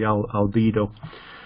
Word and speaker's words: albedo: disappear, is you change what's called the albedo. That's the pronunciation in English. I don't think it's the same in Italian.